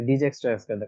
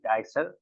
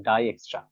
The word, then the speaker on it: Dijkstra: অনেকে এটা উচ্চারণ করবে ডিজেক্স ডাইজেক্টরিদম remember this is নট the correct answer এটা হচ্ছে একটা অন্য ভাষার একটা নাম সেজন্য এটা ভাষাতে এই ডাই এক্সট্রা এখানে দেখবেন যে টা